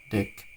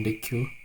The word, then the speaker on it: deque: Jadi ini bacanya eh deck ya, bukan deq.